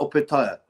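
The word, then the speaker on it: Opetaia: Um and then I thought, "What about Opetaya?" Uh, and then I've seen an actual video where Opetaya is interviewed and he says it's he pronounces it opaire Jai Opetay.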